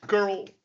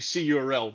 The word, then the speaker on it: cURL: character okay but um girl um is actually curl the creator of it